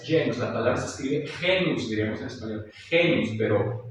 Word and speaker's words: genus: La letra G, cuando va seguida de la E, I, igual misma regla, aplicada para la C, o los diptongos A, E o E, se pronuncia como Y, G. G. Ante E, I es G.